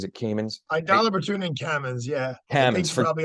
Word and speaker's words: Kamins: Is that how you pronounce it? Is it Caymans? Aidala, Bertuna, and Caymans, yeah.